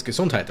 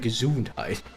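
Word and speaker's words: Gesundheit: And it's in in German it's gazite, but in in in English is like gazunite.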